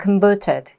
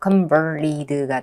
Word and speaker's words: converted: 그럼 이걸 영국 오빠나 호주 오빠 이으면 converted 영국 언니는 이랬겠죠. 근데 미국 오빠들은 또 굴려 리율 발음을 해. 그래서 convered가 되는 거죠.